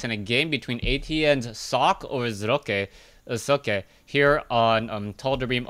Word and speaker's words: Socke: I'm trying to do the German justice as that is how he pronounces his name.